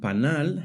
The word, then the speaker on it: panal: The word panal has the stress on the last syllable. Panal.